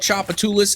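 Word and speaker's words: Tchoupitoulas: There's a street in New Orleans called Chapatoulas, and it's spelled with a P-T-C-H-O-U-P-T-U-L-U-S.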